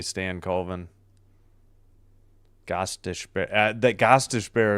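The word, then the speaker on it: Stankoven: I used to stay stank coven and then I realized I'm like, "Oh yeah, it's probably Stan Coven."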